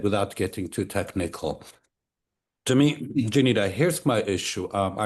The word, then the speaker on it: Jeanita: I don't want to mispronounce it. Janita. Janita.